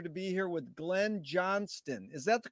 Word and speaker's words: Johnston: and a pleasure to be here with glenn johnston is that the correct way to pronounce that that's the correct way john's done